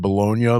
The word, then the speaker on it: Bologna: seems more likely that it is technically pronounced Bolognia, like the city in Italy. I would hope so. Yeah. Anything's better than baloney.